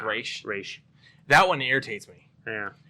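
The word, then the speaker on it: Ra's: one irritates me because people will argue with me on it they're like it's razz no it's race it's razz it's spelled ras and i'm like it's not english it's race it's an actual [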